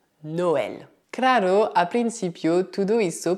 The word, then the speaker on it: Noël: Por fim, também é possível que o E tenha trema. Nesse caso, ele é pronunciado E, como na palavra Noël.